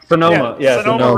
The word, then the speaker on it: Sonoma: Okay, Kyle, you're so Soma. Sonoma Raceway.